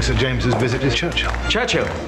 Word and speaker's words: Churchill: Churchill, that's how you say it, altogether like that. I'd heard church and hill, but couldn't find either.